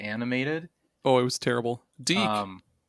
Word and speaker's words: DIC: Deke. Deke. Okay, that is how it's pronounced.